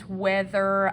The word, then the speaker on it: whether: This is weather like I'm trying to choose whether I want a hamburger or a hot dog for lunch. So we're going to use our WH digraph here, where that H is silent.